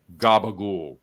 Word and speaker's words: capicola: area we call gab there are certain Italian Americans in some in Jersey a lot in Brooklyn that and especially Staten Island and that pronounced capicola Gaba we don't know why